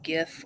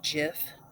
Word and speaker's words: GIF: coronary level this is just a little uh GIF or Jiff depending on how you pronounce it that shows how the protein structures